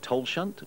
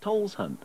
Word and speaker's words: Tolleshunt: Some say Tolleshunt, others Tolleshunt, or just Darcy.